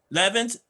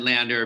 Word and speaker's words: Lander: And so we're going to bring up Councilman Brad Levins.